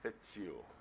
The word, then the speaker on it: Fitzhugh: morning my name is fitzhugh if the shoe fits you you said it right okay i told josh